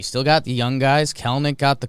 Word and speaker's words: Kelenic: Kelnick. It does not work that way. Kelenic. What do I keep saying? It's Kelnick. Kelnick. Two syllables. Ignore that second E You when mind- you're talking about him.